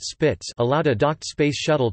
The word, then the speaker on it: SSPTS: The station-to-shuttle power transfer system (SSPTS), pronounced SPITS, allowed a docked space shuttle to make use of power provided by the International Space Station's solar arrays.